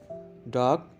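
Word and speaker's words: dark: डार्क, तारीख। इसमें भी आर साइलेंट है।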